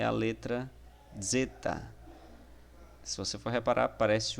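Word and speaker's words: ζῆτα: realmente chamado de zeta, é um Z mais ou menos tendo um D aí por trás, né? Zeta, zeta, tá? E a pronúncia dela é como se fosse um dz, dz, em Edson, por exemplo.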